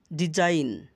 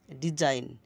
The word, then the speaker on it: design: যেমন ডিজাইন আইজিএন এখানে থাকার কারণে আইন উচ্চারণ হয়েছে এস আইতে এস আইতে বর্গিত হচ্ছে আর আইজিএন থাকার কারণে আইন হয়েছে ডিজাইন ডিজাইন রিজাইন পদত্যাগ করা রেইন রাজত্ব রেইন রাজত্ব